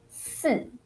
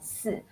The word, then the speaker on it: 四: just the tones is different, but the spelling and the pronunciation basically the same.